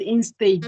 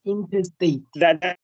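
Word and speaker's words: intestate: Not in stage. It is interstate.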